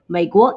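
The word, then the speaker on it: 美国: may go make what maego is usa actually may is the um similar pronunciation that chinese people picked for may america so meiko is united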